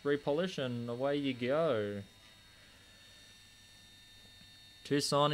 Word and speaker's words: Tucson: and away you go tucson indeed or tucson as it's spelt what got you into